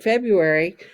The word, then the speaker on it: February: y february all right now we don't really say february at least we don't in kansas so it's a silent letter so feb capital f